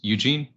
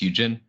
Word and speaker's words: Juxhin: uh but really briefly my name is Eugene um or if you wanted to pronounce it natively it's Eugene um and I'm currently